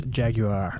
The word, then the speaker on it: Jaguar: taking all right Jesse you got to pronounce it correctly it's Jaguar Jaguar yeah I I did see that's how they say it on the commercial yeah so we'll we'll we'll uh yeah we'll uh pronounce it like the Brits um so I don't